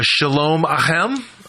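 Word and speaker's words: Shalom Aleichem: So the first song I'd like to talk about is Shalom Ahem. Can you tell me a little bit about that song? Am I pronouncing that correct?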